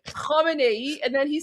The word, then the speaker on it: Khamenei: So the kh is the beginning sound for the supreme dictators, right? So the first one was Khomeini, right? And then the next one is Khamenei. You guys pronounce it like Khamenei, I guess, right?